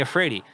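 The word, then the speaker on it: Iafrate: It was I know Ally Efrey, but the way it's spelled is capital I A F R A T E. And when you look at it on a piece of paper, it looks like an L.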